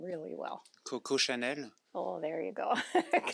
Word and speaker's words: Coco Chanel: Coco Chanel.